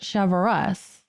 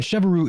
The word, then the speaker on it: Cheverus: now we understand that in boston they pronounce it cheverus which is well something my french grandfather would not like yeah i know and friend and chevaru isn't even that hard